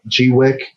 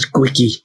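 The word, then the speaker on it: Gweike: they are ready exactly you say that g Wick that's how you say it I thought it was squeaky no it's a g Wick okay that's good to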